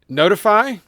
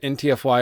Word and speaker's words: ntfy: also self-hosting notify I I may have said ntfy earlier it's kind of hard not to say that so I might accidentally say that it's the author wants it pronounced not so I'll try to say notify and so I have